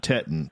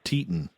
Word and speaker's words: Teton: Teton, not Teton, Teton. I pronounced it wrong.